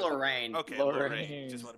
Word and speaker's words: Lorraine: It's pronounced Oh. Lorraine.